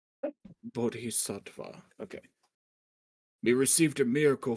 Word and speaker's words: Bodhisattva: I'm just trying to pronounce it. Bodhis sva. Bodhisa. Bodhisattva.